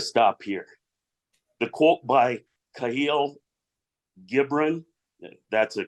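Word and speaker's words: Kahlil Gibran: Bucks got to stop here the quote by cahil gibron that's a correct pronunciation is exactly why this new board is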